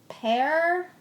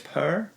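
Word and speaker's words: Pär: Yeah, so I believe you would say, because his first name is spelled P-A-R and it has an umlaut over the A, so I think it's Per. Well, he says, I remember that John asked how to pronounce my first name in one of the podcasts, and here it is. It is not easy, but it should be something between pear, like in a pair of scissors, and pear the fruit.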